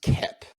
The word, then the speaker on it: Koepp: I believe it's pronounced Kep.